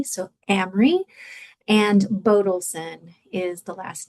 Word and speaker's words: Amery: Amry rhymes with Camry like the car if that helps. It's a short a not like Amy. So, Amry and Bodilson is the last name.